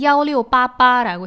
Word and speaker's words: 1688: 1688을 중국어로 말하면 야오리오빠빠라고 해요. 야오리오빠빠, 알리바바, 뭔가 발음이 비슷하죠? 그래서 중국 사람들은 야오리오빠빠라고 부릅니다.